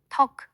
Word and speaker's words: talk: knee, 무릎나 knob, 손잡이처럼 kn으로 시작하는 단어들은 K가 psychology, 심리학처럼 푸스로 시작할 때 P가 climb, 오르다에서는 B가 묵음이고 talk, 말하다에서는 L이 묵음이 된답니다.